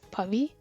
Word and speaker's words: Pavi: I go by Pavi, and the right way to pronounce it is Pavi.